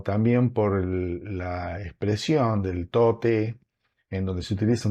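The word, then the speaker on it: 唐: por la expresión del tote en donde se utiliza un kanji que representa la dinastía Tang y que se pronuncia to y también este fue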